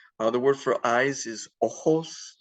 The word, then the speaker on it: ojos: The word for eyes is ojos. The J is pronounced like an H.